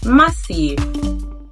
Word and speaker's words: Matthew: Remember, the sound is mispronounced as t, so it's not pronounced as mouth, but mouth. Not it, but earth. Not Matthew, but Matthew.